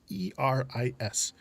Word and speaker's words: Eris: I want to pronounce it Aries. It's Eris.